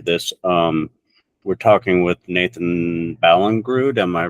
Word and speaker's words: Ballingrud: We're talking with Nathan Ballingrud. Am I pronouncing that correctly?